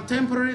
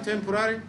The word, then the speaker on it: temporary: اسمع النطقين، طبعا تيمبوري ده بريتش، والنطق الامريكان تيمبوراري ده النطق الامريكي، عشان تبقى عارف النطقين.